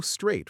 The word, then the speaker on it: straight: Go straight for two blocks. Straight has a silent g h. Don't pronounce it.